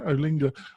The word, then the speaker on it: Olinga: I want to talk about this On Health, WordPress and Tough Decisions by Carol Olinga. Am I pronouncing that correctly? Yeah, Olinga.